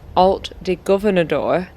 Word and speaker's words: Alt de Governador: But as the highest point in the park, Alt de Governador sits at around 438 m, offering some of the best views over Benedon.